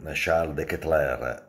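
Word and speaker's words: Charles De Ketelaere: il milan ha preso cialde che tra air con perché si pronuncia così poi ne parliamo durante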